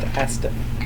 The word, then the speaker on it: ASDF: It's pronounced Astif.